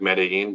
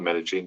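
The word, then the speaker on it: Medellín: bog and Med medine which I was told is called medin even though it's spelled like medine but they call it medene down there but we'll be there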